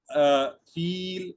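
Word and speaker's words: فیل: सी sound होती है, इसको फील प्रोनाउंस करते हैं, फा या लाम इसकी स्पेलिंग्स हैं।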